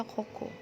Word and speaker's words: Coco: Atau Koko ya, dibacanya Koko.